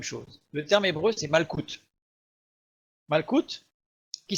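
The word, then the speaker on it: מלכות: Le terme hébreu, c'est malkout. Malkout, qui s'écrit aussi ainsi, malkout, ou comme ceci, malkouya.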